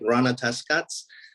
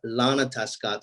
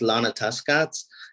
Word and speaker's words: Ronatahskats: sounds it looks like Rana test Cuts but in Mohawk it is Lana tuscott so the r is pronounced like an L so it's Lana tuscats and we're kind of